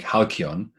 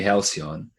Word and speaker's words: Halcyon: So I call it, I pronounce it in the Greek like halcyon. In English it would be halcyon.